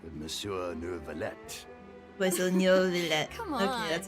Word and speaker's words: Neuvillette: Wait, so Neuvillette. Come on. Okay, that's how you pronounce it.